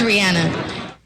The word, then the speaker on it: Rihanna: all those years ago, you said Rihanna. It is Rihanna. There you go. Yeah, all right. But every time you hear it anyway, Rihanna on G10, whatever. Rihanna, okay. So that's how she pronounces it.